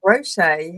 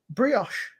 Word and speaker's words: brioche: The sweet I call that brochet. How did you pronounce it? brioche. Yeah, you probably got that right.